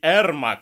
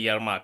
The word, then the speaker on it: Эрмак: Правильнее, конечно, говорить Эрмак, а не Ермак. Но как бы переводят Ермак и... Я не знаю, там как-то... То есть переводят по-русски типа Ермак, но читается как бы Эрмак.